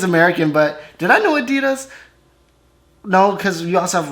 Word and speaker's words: adidas: were referring to because they usually pronounce it adidas and in germany we say adidas it's the second largest